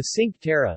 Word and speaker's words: Cinque Terre: the sink terra italian pronunciation tequitre ligurian cinque terre meaning five lands